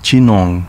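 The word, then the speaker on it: Ginowan: complex on the island kinowan pronounced jinong in uchinanguchi is home to the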